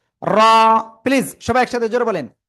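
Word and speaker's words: ر: জিব্বার আগার পিঠ তার বরাবর উপরে তালুর সাথে লাগিয়ে মোটা আওয়াজে উচ্চারণ করব। র।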